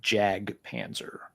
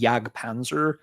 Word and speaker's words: Jag Panzer: I wouldn't be the least bit surprised if the band pronounces it Jag Panzer. I I think it's one of those, you know, Sirungle Kirithungle things where technically going by, you know, these rules of grammar of the European languages, it should be Yagpanzer, but I have a